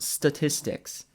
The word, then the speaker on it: statistics: of the general public first of all it's pronounced statistics second of all you have no [ __